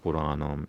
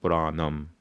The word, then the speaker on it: Puranam: Like instead of Bhagavata Puranam, you call it instead of Purana, you call it Puranam. And instead of Bhagavata, you say Bhagavatam.